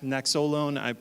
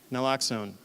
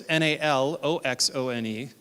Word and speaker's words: Naloxone: I can't pronounce the Naxolone. I'm sorry. Thank you. Naloxone. In fact, it's misspelled on this slide. I sent an updated version of this, and I'm sorry. So it's Naloxone.